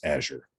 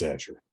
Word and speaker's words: Azure: cloud service i think the way you pronounce it frodo is azure yeah and if you were speaking spanish you'd say azure yep but it english unfortunately it's azure yep and then if you